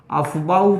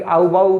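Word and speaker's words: Aufbau: अफबाउ principal, देखिए ये कोई नाम नहीं है, इसको कभी कभी आउबाउ प्रिंसिपल भी पढ़ा जाता है, अफबाउ, लेकिन इसका हम लोग प्रोनाउंसिएशन करते हैं। किसी ने अगर एफ को साइलेंट कर दिया तो वो पढ़ेगा आउबाउ प्रिंसिपल। खैर उसमें भी एफ आता है, लेकिन बड़ा धीरे से आता है, अफबाउ प्रिंसिपल।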